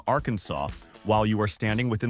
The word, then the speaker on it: Arkansas: in 1881 that declares the only correct pronunciation is with a silent s at the end. If you walk into a bar in Little Rock and say, "R Kansas," you are technically breaking the law.